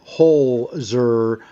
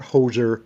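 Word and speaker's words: Holzer: Um she she's part of that uh hozer. Not hoser. Hole. H O L Z E R.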